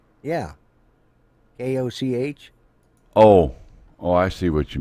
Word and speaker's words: Koch: Koch, Cook. Yeah. And they pronounce it Cook.